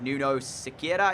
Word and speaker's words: Nuno Sequeira: Nuno Sequeira is how you say it.